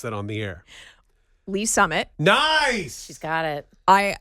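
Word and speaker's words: Lee's Summit: When you see the words Le Summit, how do you pronounce that on the air? Lee Summit.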